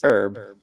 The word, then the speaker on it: herb: you need something boy I've never heard it pronounced like that where I came from I pronounce it herb there's no h in that sorry attacking something oh